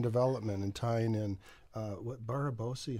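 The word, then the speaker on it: Barabási: It's fun too that like Jane is head of our research and development and tying in what Barabosi. How do you pronounce that? Mr. Linked. He's Barabashi. Barabashi.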